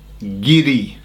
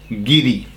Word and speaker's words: guiri: And the word is giri. Giri. Okay. Now, have you heard this word before? It's spelled G ui R I. Giddy.